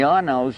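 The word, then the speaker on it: Arnow: And there's also an Arnaud place, A-R-N-O-W. And the Arnauds, they were originally French, moved to England.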